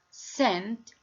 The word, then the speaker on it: scent: So here we don't pronounce the letter C because it preceded by S.